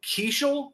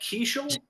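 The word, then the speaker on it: Keaschall: Added Luke Keeschel. Is that how we're pronouncing that? Keeschel? Sure, yeah, let's go with that. But Okay.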